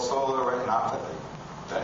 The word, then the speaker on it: retinopathy: We're going to look at something called solar retinopathy.